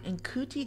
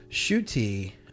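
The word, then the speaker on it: Ncuti: So, In Kuti Gatwa. It's actually pronounced Shuti, yeah, Shuti Gawa, I believe, Gawa, and he is really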